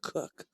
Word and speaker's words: Koch: last name is pronounced Cook. Cook.